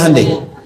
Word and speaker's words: Hyundai: Hyundai kan dibacanya Handai ya kan?